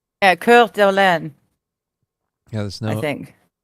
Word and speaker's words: Coeur d'Alene: Coeur d'Alene. All right. Yep. That's how you pronounce it.